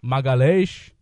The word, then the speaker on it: Magalhaes: Magalhaes.